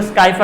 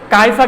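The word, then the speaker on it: Scypha: সবচাইতে ইম্পর্টেন্ট স্কাইফা গ্যালাটিসাম এটাকে অনেকে বলে স্কাইফা গ্যালাটিসাম বাট এখানে এস টা উচ্চারণ উচ্চারণ হবে না এটাকে বলবো কাইফা গ্যালাটিনোসাম এটাকে বলে মটকা স্পর্মস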